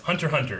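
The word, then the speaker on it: Hunter × Hunter: Someone told me that it's Hunter Hunter is how you say it.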